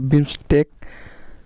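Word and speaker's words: BIMSTEC: সদস্য হচ্ছে আফগানিস্তান তারপর হচ্ছে বিমসেক তারপর হচ্ছে বিমস্টেক উচ্চারণটা এরকমই হবে এর সদস্য সংখ্যা হচ্ছে সাতজন লট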